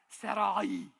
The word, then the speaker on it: Sarai: which I cannot do it's supposed to be like Sarai yeah I'll be saying